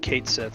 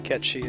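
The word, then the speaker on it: Cait Sith: the spelling in Gaelic to understand how to pronounce something. I always said Kate Sith when I was a kid. I realized it was supposed to be Ketshi until I think I saw Advent Children.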